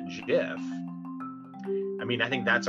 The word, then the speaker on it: GIF: will height will height released the graphics interchange format or gif and called it a jiff i mean i think